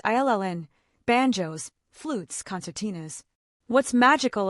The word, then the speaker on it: uilleann: Then there are uilleann pipes, Irish bagpipes, pronounced illn, banjos, flutes, concertinas.